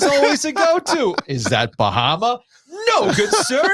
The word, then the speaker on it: Bahama: the one on the top of my head Bahama's always a go-to is that Bahama no good sir it's pronounced Baha and then my other favorite is